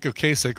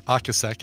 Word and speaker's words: Ocasek: Greg Hawks or Ric Ric Ocasek or Akasaka as you're supposed to pronounce it from the cars it's